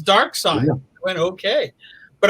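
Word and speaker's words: Darkseid: And I remember going up to Jack and asking him, was the character's name pronounced Dark Side or Dark Seed? No, it seemed a viable question. And it's Dark Side.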